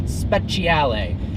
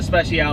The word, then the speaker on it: Speciale: So it is the Ferrari 458 Speciale. Yes. Let's just call it the freaking Special, just to see how pissed off Ferrari gets. Oh, is that the 458 Special? The 458 Special. I call it the Speciale.